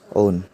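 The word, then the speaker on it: -one: alkene name to one this ending one is pronounced as own rule three number the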